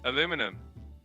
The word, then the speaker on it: aluminum: In the US, it's typically pronounced aluminum, and in the UK and many other places, it's pronounced aluminium. Both are correct, just depends on where you are.